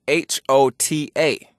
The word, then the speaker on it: hota: In Kiswahili, we have a word spelled H-O-T-A, pronounced hota.